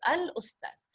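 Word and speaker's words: الأستاذ: I don't put shadda and I pronounce the al. It's al-ustaz.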